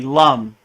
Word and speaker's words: Lam: be honest with you so it looks like M but it's really Lum so the Bea mantra